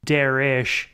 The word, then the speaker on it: Derek: Minor note, Derek pronounces his own name as Derish and insists that most other people pronounce it that way, including the porn stars he harasses.